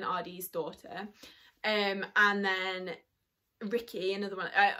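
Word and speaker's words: Rikke: daughter um and then ricky another one i i think it's actually ricker but i always say ricky because that's how i pronounce in my head is the dogman's daughter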